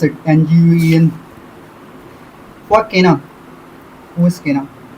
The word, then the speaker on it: Nguyen: Joseph, how to pronounce it? Nguyen.